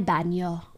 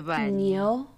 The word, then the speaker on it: baño: The way I try to pronounce these N's, I don't know how to explain it, but I try to pronounce like there's a squiggly in my voice. El baño.